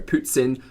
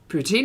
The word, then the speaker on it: poutine: let me know that poutine is oh sorry putzin um i also pronounce it incorrectly i know poppy's pronunciations